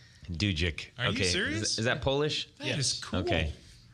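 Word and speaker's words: Dudzyk: what is I was corrected and his proper pronunciation is do Jake do Jake is that polish yes okay purebred all right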